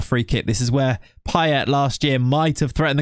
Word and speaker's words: Payet: going to be perfect pet though I'm going to stand by it in England he was Demitri payet he wasn't PA even though obviously it should be P all right I'm gonna